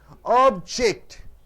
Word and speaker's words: object: obstacle for India's progress object object two syllables an ounce of a syllable stress suppose if it is verb you're setting the second syllable right sir so object